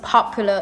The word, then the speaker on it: popular: I'm sure we all know this word is popular. It means famous, popular. So the stress on the first one, but when you change to a noun, the word stress changes to the 3rd syllable, which is popularity.